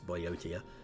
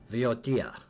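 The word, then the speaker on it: Boeotia: Evia is what it's called, and the other one over here, the Boiotia, or what I thought was Boiotia, is how is it pronounced? Viotia, apparently.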